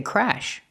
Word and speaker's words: crash: Or I can say crash. Pronunciation? Use the short A sound like black cat.